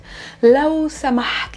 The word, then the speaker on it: لو سمحت: لو سمحت. Let's work on the pronunciation first. There's a ha.